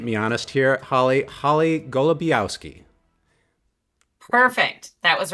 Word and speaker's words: Golebiowski: Holly Golabowski.